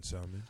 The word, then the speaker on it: salmon: This coming from someone who pronounced the L in salmon.